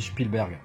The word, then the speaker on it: Spielberg: plutôt, produit par Spielberg, alors on dit Spielen en allemand, donc, et non Spielen, donc moi je dis Spielberg, voilà, n'en déplaise à certains, mais moi c'est comme ça que je le prononce.